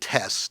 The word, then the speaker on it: TES: I don't know how to pronounce it. Well, it's to make it easier for you. They also call it TESS, TES.